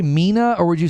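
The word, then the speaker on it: MENA: oh hang on Mina stands for Middle East and North Africa they Pro people probably say me right yeah the abbreviation me is pronounced as a word not as the letters according to Google AI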